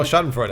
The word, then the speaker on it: Schadenfreude: I don't know how to pronounce this word, but Schadenfreude? Oh, Schadenfreude.